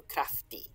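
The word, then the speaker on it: cræftig: of the time now we've got another g here so krafti and again here that the g is kind of like a y in modern english we just spell it with one y we don't even bother with the g um so it's crafty so he crafty skillful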